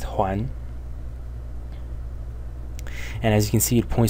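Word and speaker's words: 睘: This yellow element of the character is pronounced Huan.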